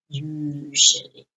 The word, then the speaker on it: usually: okay we've got always usually pronunciation not Auto Body usually it's like a nice soft sound sounds a bit French usually okay often sometimes occasionally